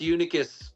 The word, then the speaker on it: Unicus: Yes, it's Latin. It's pronounced Unicus.